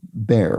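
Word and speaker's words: Behr: O bear, which is pronounced like the animal but spelled B E H R.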